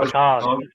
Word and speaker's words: Picard: It's pronounced Picard.